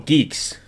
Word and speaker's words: Guix: Guix is like for um Geek. Oh, geeks. GNU Geeks. What a weird way to spell it.